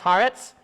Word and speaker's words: Haaretz: Title of the article from, I think it's pronounced Haaretz, H-A-A-R-E-T-Z.